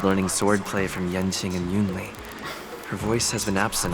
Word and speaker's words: Yunli: Literally, I wish I knew how to pronounce her name. I am Yunli. Yunli, okay. I am Yunli, swords.